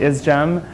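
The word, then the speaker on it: ISGMH: health and well-being or is gem for short we say we are a gem so we pronounce it is gem I wanted to talk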